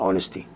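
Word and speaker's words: honesty: الامانه هي خير سياسه، الامانه اونستي، ما بحطش ذا، خلي بالكم عشان دي حاجه مجرده ومعنويه، والاتش ما انطقهاش في الجمله، تبقى اونستي.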